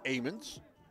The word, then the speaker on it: Ammons: It says it's pronounced Ammons.